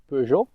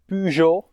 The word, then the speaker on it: Peugeot: Yes, it's pronounced Peugeot. It's a French company, so it's not Peugeot or Peugeot or whatever Americans make of it.